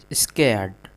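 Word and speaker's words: scared: Arun was very स्केर्ड स्केर्ड यहां पर देखिए यहां पर जो आपका आर है यानी कि र वो साइलेंट है स्कर्ड पढ़ेंगे स्केर्ड स्केर्ड अरुण वाज मतलब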